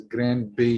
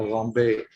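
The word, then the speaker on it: Grand Baie: Although they don't pronounce it as Grand Bay here, they pronounce it more like a Rombe because of the French.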